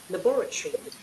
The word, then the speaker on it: laboratory: நீங்க எப்படி படிச்சாலும் தப்பா தான் போகுது. Laboratory. Laboratory. லெபார்டரிங்கிறது British. Laboratory. Laboratory. லெபார்டரி. Laboratory. பாருங்க நீங்க ரெண்டு சிலபிள்லையும் மாத்தி சொல்லுவாங்க பாருங்க.